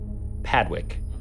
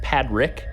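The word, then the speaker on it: Padrick: place his name is father padwick actually it's pad rick it's another name that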